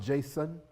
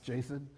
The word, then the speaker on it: JSON: And by the way, it's pronounced JSON, not Jason.